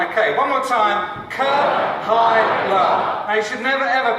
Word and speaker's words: Kahaila: And so it's Kahaila. Okay, we're going to do this together. Kahaila. Okay, one more time. Kahaila.